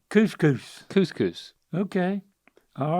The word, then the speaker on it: couscous: It's just 2 syllables, Dad. Oh, couscous.